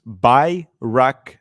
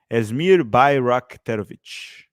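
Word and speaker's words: Asmir Begović: doing something okay so this is how you pronounce it's bakovic asmir bakovic that's how you pronounce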